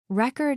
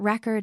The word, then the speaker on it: record: Record as a noun, but record as a verb.